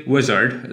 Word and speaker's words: Uizard: So I like using Uizard, spelled with UI.